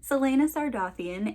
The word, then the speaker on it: Celaena Sardothien: There is a pronunciation guide in the back of the book, just so you know that I know what the pronunciation is. Celaena Sardothien, and she is a renowned assassin.